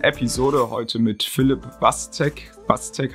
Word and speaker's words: Waczek: Watzek, habe ich das richtig ausgesprochen? Watzek, sagt man's.